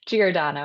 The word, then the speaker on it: Giordano: Giordano, yes, that's okay.